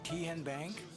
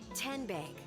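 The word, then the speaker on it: TN Bank: How do you say the name? Tien Bank? No. Tin Bank? So what is it? 10 Bank. 10, as in Tennessee, right here where all our banking decisions are made.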